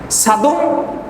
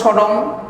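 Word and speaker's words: Sodom: সাদুম অনেকেই বলে সাদম অনেকে বলে সডম বিভিন্ন ভাবে নামের ভাষার পরিপ্রেক্ষিতে এসব নামগুলো উচ্চারণ হয়ে থাকে ইংলিশে যারা বলে তারা বলে সডম আর যারা বাংলায় আমরা উচ্চারণ করি সাদম বলি আর কোরআনের ভাষায় বলা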